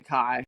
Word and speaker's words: Ki: Yeah, it's pronounced. I do remember hearing it in the audiobook. It's definitely Kai.